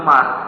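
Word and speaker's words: عمرو: at mulazim bin Amr Amr itu itu ada wawunya tapi pindah ke Kola ya wawunya itu didekatkan ke ro kalau enggak ada Ro Enggak ada wawunya Ini bacanya Umar almulazim bin Umar tapi ini tulisannya Amrin maka setelah R dikasih wawu wawunya itu terlalu mendekat kepada qa paham ya wawunya dipindah ke dekat dengan ro Jangan dekat dengan qala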